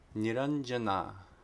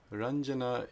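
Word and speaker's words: निरञ्जना: pages behind it okay if anuswa proceeds a palatal sound it's the the palatal nasal sound so a couple of examples here niranjana niranjana is color refers to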